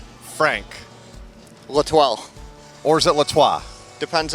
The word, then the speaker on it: L'Etoile: We'll go with Frank Latoile Jr. because that's how my grandfather pronounces it. So he's the boss. So Latoile. Frank Latoile it is.